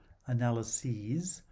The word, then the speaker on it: analyses: analysis and unvoiced s the plural has a long vowel analyses with a voice test but analyze and analyst